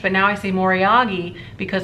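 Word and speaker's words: moriage: I used to say more iaj but now I see more yagi because apparently that's how the Japanese pronounce it so it's dragon wear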